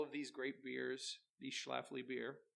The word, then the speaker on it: Schlafly: can get all of these great beers these Schlafly beer not shallow fly I mean I do and I do have